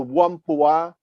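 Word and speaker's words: Whampoa: military academy one po is written w h a m p o a the true chinese name is huang poo but in english and in french it's better known as the wampua academy and is on an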